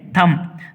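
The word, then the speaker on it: thumb: थम, यहाँ B silent है, थम, थम यानी अंगूठा, अंगूठा, अंगूठा मतलब अंगूठा, हिंदी में अंगूठा, मराठी में अंगूठा।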